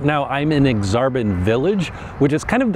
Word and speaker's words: Aksarben: Okay, so the next neighborhood we're going to talk about is Exarban. Yes, that is how it's pronounced. It's actually Nebraska spelled backwards. Right now I'm in Exarban Village, which is kind of the commercial district